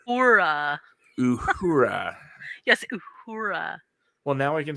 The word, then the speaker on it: Uhura: even tried uh it's not for Uhura yes Uhura well now I can say it you taught